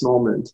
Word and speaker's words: Normand: with the master the the the multi-talented moment did i pronounce that correctly you did okay it's